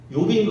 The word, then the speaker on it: 욥: 가운데 저는 최고로 친다면 욥인 것 같아요. 욥. 발음을 잘해야지. 요 비읍 요 기억 말고요.